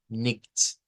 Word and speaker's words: nicht: Vea, aquí suena como sh, aquí va a sonar como ugh, ugh. Ese sonido no es la X que conocemos, sino que viene siendo la ugh, ugh, nicht, nicht. Un sonido ugh, ugh.